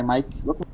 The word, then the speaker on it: Mica: My mic. Yep, I can hear you loud and clear. Am I pronouncing it right? Is it Mica? Misa? It doesn't matter. You can just say mic.